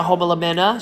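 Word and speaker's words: Homalomena: And over here, we've got a Homolamena Shelby, and I said it right, Homolamena.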